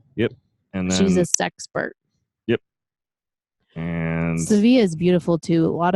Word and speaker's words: Sevilla: we will be driving to Sevilla or Seville yes pronounced Seville in the United States if you own a Buick and they call it Sevilla and will be there